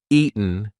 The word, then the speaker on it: eaten: little bit eaten eaten that t is followed by a weak n sound so we are not going to say eaten we're going to say eaten eaten now listen if I don't use the gladle stop if I don't say any kind of T pronunciation Ian Ian that does not work it's eaten we haven't eaten in 3